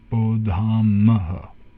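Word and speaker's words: बोधामः: It's a long A there, and then a short A. Bodhamaha.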